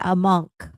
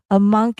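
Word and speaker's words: Amankh: And it's it's I believe you say a monk.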